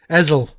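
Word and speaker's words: Hessle: You don't pronounce the H, Hessel.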